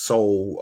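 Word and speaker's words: Seoul: But it it sound like it's soul um like the actual human soul.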